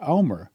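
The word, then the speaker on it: Olmert: But then Ehud Omer took over. And you spell his name Ohlmert, but you pronounce it Omer.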